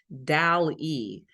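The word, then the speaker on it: DALL-E: So I'm using um I think it's pronounced Dal E.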